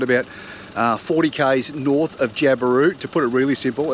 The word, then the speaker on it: Ubirr: Merl Campground you'll find about 40 k's north of Ubirr.